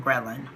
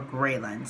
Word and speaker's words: ghrelin: the hormone leptin and the hormone ghrelin or Grayland so I will say ghrelin the rest of this video but you may hear different pronunciations of the word and these are additional